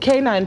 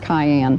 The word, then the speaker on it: cayenne: Well, uh, Jane, now you said canine pepper. What is canine pepper? Well, it's a little red pepper, and it's a it's pronounced cayenne.